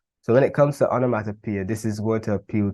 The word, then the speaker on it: onomatopoeia: so what is onomatopoeia now onomatopoeia would be another word that can be difficult to pronounce but it will be pronounced onomatopoeia and it will also be